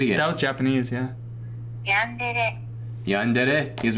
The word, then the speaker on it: yandere: Okay, so my first ever interaction with, or impression of yandere, I'm going to say that, because I'm going to trigger so many people.